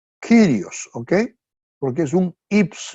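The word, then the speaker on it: κύριος: un ips long entonces por eso que se pronuncia kirios okay Porque es un ips long realmente ahí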